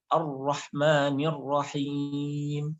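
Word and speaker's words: الرحمن الرحيم: Tapi ini resikonya ra-nya bisa lebih banyak tikrarnya. Nah, sehingga caranya tuh lidahnya dilebarkan. Ar-Rahman. Jadi seolah-olah seperti terqiq.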